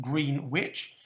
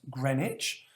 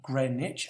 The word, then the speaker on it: Greenwich: is in the uh even though it looks like it should be pronounced green witch it is pronounced greenwich um grey niche and this is in